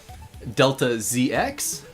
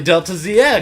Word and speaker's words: Delta ZX: You know, we also have Delta ZX. Really? Delta ZX? Yeah. That's how I've always pronounced his name. It's always not Deltaz.